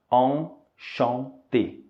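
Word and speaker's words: enchanté: som de ó Ok e a palavra termina com a letra e com acento agudo que como nós aprendemos anteriormente tem som de e Ok portanto a pronúncia correta é um chão ok a palavra ochote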